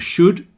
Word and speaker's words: should: Obviously, would, could and should all have silent L's, so that would is exactly the same as wood that comes from trees.